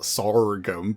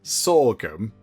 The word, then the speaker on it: sorghum: Oh, sorum. That was it. How we pronounce it. I'm sure it's not sorum, but sorghum.